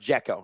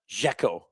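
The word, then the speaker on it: Džeko: Pronounced Jacko, not Jacko. Dzeko.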